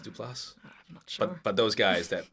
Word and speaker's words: Duplass: like the like uh mark du place and his brother is it is pronounced duplass but those guys that